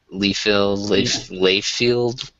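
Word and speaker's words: Liefeld: Is that how you pronounce his name? Layfield?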